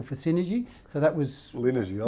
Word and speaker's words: Linergy: Is that, did I pronounce it correctly? Linergy, yep.